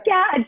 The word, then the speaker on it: Qatch: first, but it is Qatch. Okay. Yeah, you're a lot of people try to throw the U in there. Is it Qatch? Is it? No, it's Qatch.